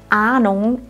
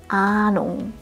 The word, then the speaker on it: Ahnung: etwas Luft ausstoßen keine das Wort Ahnung ist besonders interessant es beginnt mit einem langen a bei diesem Vokal solltest du den Mund möglichst weit aufmachen Ahnung nur so wird er richtig Deutsch klingen das Wort Ahnung endet